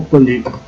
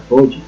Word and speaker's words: poli: Recuerden que en griego y en latín no existe la L, entonces no podemos pronunciar polli, sino poli.